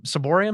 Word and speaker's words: ciborium: There's been times where I've seen irreverent reception of the Holy Communion, where I just wanted to grab the ciborium.